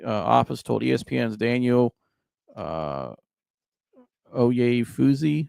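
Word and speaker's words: Oyefusi: The Browns state attorney office told ESPN's Daniel uh Oay Fuzzy, I believe is how you say his name.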